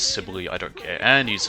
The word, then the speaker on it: Sibyl: outside of your heal, but I got Sybil for that. Yes, I know I keep pronouncing it wrong, it's Sibyl, I don't care.